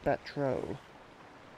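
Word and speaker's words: Batreaux: I believe it's pronounced Batro. The EU makes an O sound. Batro it is.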